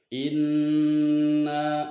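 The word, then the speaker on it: إِنَّ: Inna di sini disebutkan bacanya adalah gunnah sebab huruf nun ditasdid, dan cara membacanya adalah nun harus didengungkan antara 2 dan 3 harokat.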